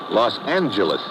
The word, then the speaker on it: Los Angeles: Los Angeles. Correction. Los Angeles. Oh yeah. Soft G.